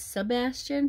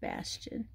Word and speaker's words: Bastian: call my name bastian i always thought his name was sebastian but it's just bastion bastion bastian bastian call